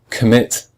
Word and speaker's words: commit: the same with commit commit has two syllables com and mit but we hear we say mit much stronger than com we say we say commit we don't say commit we say so the